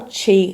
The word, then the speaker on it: qi: main reasons why we can get tired in China medicine one is that you don't have enough